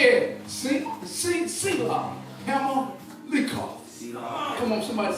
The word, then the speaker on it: Sela-hammahlekoth: It sounds like almost like a Q on the K, but it's koth.